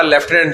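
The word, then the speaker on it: lieutenant: वैसे ही लिखना पड़ेगा लेफ्टिनेंड जो इंग्लिश में है लिखा कुछ और जाता है पढ़ा लेफ्टिनेंड जाता है इसको कहते हैं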